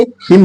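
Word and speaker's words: hymn: एन हाइम या हिम तो हाइम नहीं बोलेंगे हिम बोलेंगे एच वाई एम एन हिम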